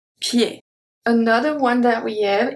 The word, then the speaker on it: pied: So ed in this case is pronounced e, pied.